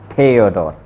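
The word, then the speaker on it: Theodor: यूबरमूट एक गलती होगी, थियोडोर, क्योंकि थे का साउंड थियोडोर।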